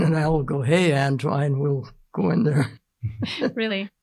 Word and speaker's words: Antoine: The And by the way, his name was An-twine. People say Anton, Antoine, but my grandpa called him An-twine, and if grandpa called him An-twine, that's it. And then I see on old census, they phonetically put it Antwine, so it's An-twine. Definitely.